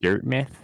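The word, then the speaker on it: Dirtmouth: as well you know some people pronounce it dirt myth yeah i mean yeah i always say dirt mouth out oh like maybe it's because like i don't know things like plymouth aren't called like plymouth but whatever you know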